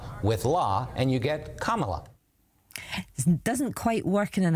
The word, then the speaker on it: Kamala: Senate she put out this video it's not camela it's not Camala it's not camela it's it's kamla kamla Harris well senator says she's used to